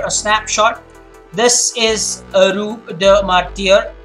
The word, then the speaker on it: Rue des Martyrs: Finally, they got a cab and they were dropped off at their door in the, this one is pronounced a Rue des Martyrs. That's how you pronounce it.